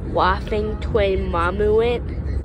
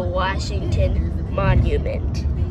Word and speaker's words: Washington Monument: Oh, but wait, so I want to see, the Waffington Monument. Well, it's actually pronounced the Washington Monument.